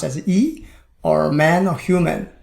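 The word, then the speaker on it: 一: component of Chinese characters such as number one pronounced as e or man or human gen you see if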